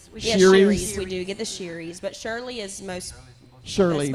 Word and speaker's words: Shireys: I was like, "Welcome the Shirleys," and she was like, we get that.